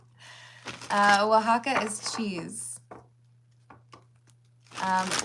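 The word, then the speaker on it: Oaxaca: Um, wajaka, the way you spelled it, grind hard, um, is pretty close to how you would pronounce it if you know the J is like H, but it's the O A X.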